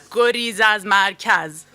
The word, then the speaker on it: Gorizas Markaz: Go, Riz, Az, Mar, Kaz. Gorizas Markaz.